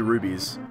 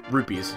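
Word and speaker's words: rupee: it might just be rubies rupes sorry not rubies Zelda fans get mad when you say it wrong dude I've had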